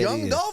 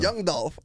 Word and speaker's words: Young Dolph: know John do young I'm saying it wrong you were you saying it right now sound like you saying John Young Young I mean young Dolph yeah the killer rapper